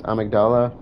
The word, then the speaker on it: amygdala: So these are referred to as amygdala. That's how the game pronounces it. That's why I say it that way.